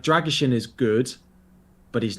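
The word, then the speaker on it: Drăgușin: But can you pronounce his name? Dragishin.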